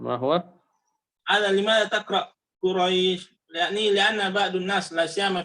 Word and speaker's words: قريش: بالدين القصر حركتين مد طبيعي، لكن قريش الياء هنا ياء ساكنة قبلها فتحة، فليست حرف مد وإنما هي حرف لين فقط تنطق ولا يزاد عليها شيئا. إذا أردت الزيادة ممكن أن تزيد 4 أو تزيد 6، لكن لا تزد وتجعلها حركتين.